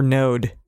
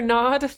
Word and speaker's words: Nod: So Cain went out from the Lord's presence and lived in the land of Nod or Node. I'm pretty sure Nod. Nod is usually how it's said.